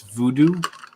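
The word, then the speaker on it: Voodoux: voodoo men's crap it's voodoo beard company it's spelled like voodoo v-o-o-d-o-u-x yeah um well if you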